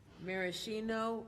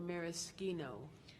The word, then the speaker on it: maraschino: This word has two pronunciations, maraschino or maraschino.